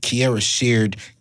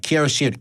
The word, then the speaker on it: Kierra Sheard: minute of this show kiara shared wait i got to say it right cara shared kelly um because i